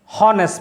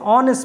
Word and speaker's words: honest: h we don't say honest man no not that that is wrong we say honest man h is silent and so the pronunciation is o so in this case